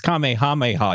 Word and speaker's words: Kamehameha: and says uh you said it wrong it's Kamehameha you huh as if like